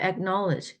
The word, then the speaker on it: acknowledge: 길을 어떤 식으로 가든지간에 acknowledge 이거 발음이 조금가 들어 있어라고 읽어도 틀리지 않습니다 하지만 보통은 뭐 빨리 듣기를 한다면 acknowledge acknowledge 런 정도로 들리거든요 acknowledge 약간 기억이라고 생각하면 돼요 그 막 우리나라말로 그 맞추자면 know know knowledge 근데 acknowledge acknowledge 은이라서 약간 이처럼 발음이 되는 거죠 acknowledge acknowledge in all